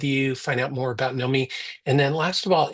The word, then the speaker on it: Knomee: It's spelled Knomee. So there's no W. A lot of people like to throw in the W. No W, Knomee with two E's.